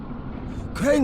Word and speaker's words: Crane: name is crane okay crane rhymes with train and brain and same and gray and rain